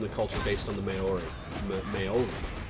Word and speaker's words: Maori: The guy from the culture based on the Maori. Maori. Gotta pronounce it right.